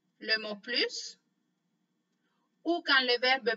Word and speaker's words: plus: pause, dans ce cas-là, on va prononcer la lettre S à la fin.